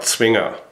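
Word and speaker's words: Zwinger: It's spelled Z W I N G E R. Swinger.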